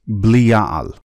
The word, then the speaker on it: Belial: Since the name has been pronounced with a B all these years, the correct pronunciation is Belial.